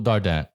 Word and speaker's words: Dardant: you, and this Dardant. Well, it's French again, so it's challenging. The T is silent, but nobody says it right. So I'll accept all forms of the name Dardant or Dardant.